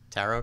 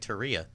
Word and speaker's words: tarot: How do you pronounce it? Tarot. What did I say? You said like Taria. You said something really wrong.